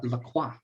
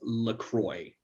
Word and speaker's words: LaCroix: My understanding with the drink is because the company apparently named themselves as LaCroix, written that way, spoken and pronounced that way, to be distinctively non-French.